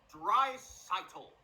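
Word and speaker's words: Draisaitl: the Edmonton Oilers McDavid and his teammate Leon dry seitel pronounce it right they also have the League's top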